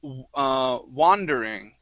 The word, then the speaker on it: wandering: Okay, next up we have, let's see, the word wandering. Here instead of wonder, it's wa, wandering. Wandering.